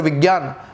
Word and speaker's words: विज्ञान: वास्तविकता में इसका जो उच्चारण है वो जय है, यानी कि इस शब्द को विज्ञान कहा जाएगा या इस शब्द को यज्ञ कहा जाएगा, किंतु शब्दों का भी स्वरूप बदल गया है।